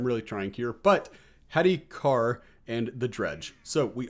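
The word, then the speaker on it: Kaur: i am and they told me it was pronounced car so we're gonna say car if that's not right i am sorry guys i'm really trying here but hattie carr and the dredge so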